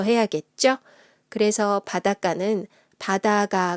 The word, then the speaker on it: 바닷가: 가 를 붙여 볼게요 이 경우는 바닷가 라고 있습니다 또는 바닷가 라고 읽어도 맞아요 싸이 쇼 스의 조건